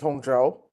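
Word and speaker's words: Zhou: Uh it's Joe. Oh, can you spell it?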